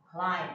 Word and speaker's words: climb: 下一个呢，你要知道是这个 b 不发音嘛，既然它不发音，所以你会怎么念？ climb，对，很好。